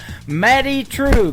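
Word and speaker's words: Madye Trew: It is M A D Y E on her first name and True is spelled T R E W. Matty True.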